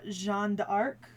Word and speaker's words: Jeanne d'Arc: But in the French, it's Jeanne d'Arc. Because, the French. Let's, write in 8 letters and pronounce 3 of them.